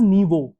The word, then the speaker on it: Niyo: It's pronounced as Niyo, abbreviation for new voice.